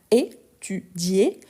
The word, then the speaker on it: étudié: On a étudié. Si on n'ajoute pas l'accent aigu, ça devient étudie. Donc ça change même la prononciation parce qu'on va prononcer le i.